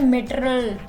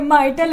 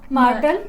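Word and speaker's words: Myrtle: अरे यार मिट्रल ऐसे कुछ स्पेलिंग थी हाँ उसकी मिट्रल मेलेफिसेंट नहीं मोर्निंग मिट्रल ऐसे कुछ था।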